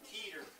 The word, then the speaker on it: Keeter: This pitcher's last name is pronounced Keeter. Long E.